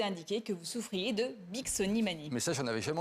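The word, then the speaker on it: Bixonimanie: Alors ce soir Mylène, vous nous parlez d'une mystérieuse maladie qui s'appelle la Bicksonimanie. J'ai bien prononcé?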